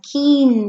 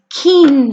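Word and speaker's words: quince: Catorce a cat door say 15 as keen say you and you always make the sound like when I say what I can say okay so 15 as keen say 16 sdsc safes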